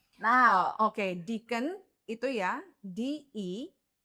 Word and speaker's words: Deakin: Now, Oke, Deakin itu ya D-E-A-K-I-n. Jadi di pronounce-nya Deakin, bukan Daikin. it's not the AC ya Mbak Lina ya, Yeah. no Daikin ya. Deakin ya, Deakin, not Daikin.